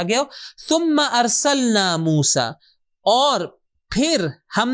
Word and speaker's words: ثم: ثم، کہ صحیح تلفظ اس کا ہے ثم یعنی پھر.